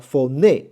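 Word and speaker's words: φωνή: 好，接下来这个叫 phone 好，这个重音在后面啊 phone 就是声音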